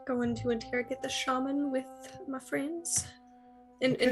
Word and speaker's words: shaman: And yeah, just so you know, the proper pronunciation is shaman, but Shaman? shaman is also acceptable. And I like shaman better. But shaman is Sounds like the more shame, man. shaman. I know it's kind of weird. Shaman is the more British pronunciation. I was gonna say it sounds very English Shaman. or Irish.